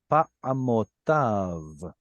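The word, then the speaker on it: פַּעֲמֹתָיו: When you see a yod and vav at the end, pretty much you'll have to ignore the yod. Pa'amotav.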